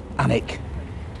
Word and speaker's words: Alnwick: It's obviously pronounced Alnwick.